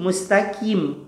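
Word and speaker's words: مستقيم: = k kebanyakan ini dibaca dengan K jadi bacanya Bagaimana Kim mustaqim mustaqim kepada mustaqim must Apple tebelin gitu ya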